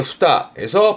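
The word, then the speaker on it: 二重: 이때 발음이 에로 갑니다. 후다즈의 후다에서 발음은 후다에.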